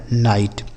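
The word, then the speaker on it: night: जी एस टी राइट एन आई जी एस टी तो एन आई से पढ़ा जाएगा नाई और जी एच टी से टॉ क्या पढ़ा जाएगा नाइट ठीक है ये हो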